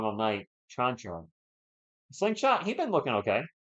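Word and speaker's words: Čančar: Chanchar with the jumper in the paint. Good. So my apologies. I've been saying his name wrong all night. Chanchar.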